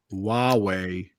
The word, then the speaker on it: Huawei: There's the pronunciation Matt gave it to you there. Huawei. Yeah. It's like Wawa.